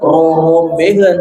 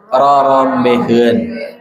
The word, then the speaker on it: rorombeheun: tuh kakinya bukan nih ucap diucapkan Robben tapi rorombeheun itu banyak contohnya ya